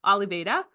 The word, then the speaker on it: Oliveira: sorry, he just taught me how to say his name, Oliveira, a proud Slippery Rock University alumnus, class of 2015, psychology major.